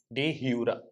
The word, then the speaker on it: de jure: J is silent, it's jure. Okay, de jure.